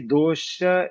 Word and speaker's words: dosha: E pronuncia dosha, né? Da última aqui que eu olhei, ele está falando que dosha é chiado, né?